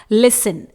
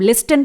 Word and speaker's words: listen: अगला है लिसन, LISTEN। यहां पर T साइलेंट रहेगा, इसे हम लिस्टन प्रोनाउंस नहीं करेंगे।